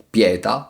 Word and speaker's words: pieta: nuovo tormento nuovi frustatori pieta con l'accento sulla e per fare rima con poeta e repleta come in 1 la